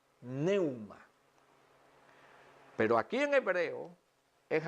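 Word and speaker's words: πνεῦμα: Y dice que se pronuncia neuma, neuma.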